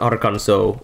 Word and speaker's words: Arkansas: Same reason Arkansas isn't pronounced like Kansas.